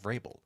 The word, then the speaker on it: Vrabel: Vrabel. You pronounced it correctly.